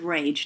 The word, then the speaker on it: rage: right rag so again final silent e in this word is making the a say its name and the g say g so let's write that